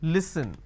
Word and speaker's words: listen: Okay, it's pronounced at li, s, n. Listen. They replace the s with a z and they say listen. It's not listen, it's listen.